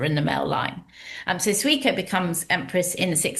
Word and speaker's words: Suiko: Its longest reigning empress was also its first, Suiko, is that how you would pronounce it? Suiko, Suiko. yes.